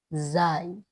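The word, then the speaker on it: زاي: জাল জাল রা যাই এই অক্ষরটা আমরা অনেকেই চিনি যা কিন্তু এটা আরবিতে সঠিক উচ্চারণ যাই আরো একবার উচ্চারণ করবো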